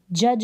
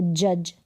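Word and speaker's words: judge: क्या है साइलेंस है यहां पर देखिए जज बोलेंगे इसको जज क्या बोलेंगे जज यहां पर अगर स्पेलिंग आप लिखेंगे ना अब यहां पर दी का अगर आपको नहीं पता रहेगा तो आप के यू जी लिख देंगे जज की जो की बिल्कुल गलत होगी यहां पर दी लगेगा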